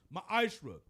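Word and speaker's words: מעשר: Means tenth in the Hebrew is pronounced ma'ashra.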